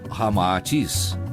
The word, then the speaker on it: Ramatis: Unindo-se Rama e Atis, Sita ao inverso, resulta Rama-Atis, como realmente se pronuncia em indo-chinês.